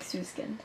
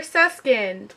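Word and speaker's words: Süskind: last last novel is perfumed by Patrick sukin it is not perfume by Peter susin his name's not Peter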